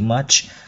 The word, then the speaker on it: much: các em hay đọc Thiếu cái âm ch của chữ much đó em thay đọc this much remains thì nó thiếu hẳn cái âm tr đ nó mất hay đi this much remains đó phải bật thật rõ ra câu này sẽ hát